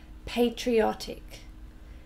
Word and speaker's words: patriotic: very soon okay so pay tree tick four syllables patriotic and can you hear where the stress is remember we always stress